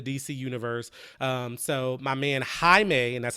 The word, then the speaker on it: Jaime: superhero in the DC Universe so my man Jaime and that's how you pronounce his name Jaime Reyes he's a Hispanic teenager from Texas who